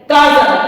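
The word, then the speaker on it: castle: रहा है फिर है सी ए एच टी एल ई काजल काजल मीस होता है किला यहां पे भी टी साइलेंट है फिर देखते हैं टी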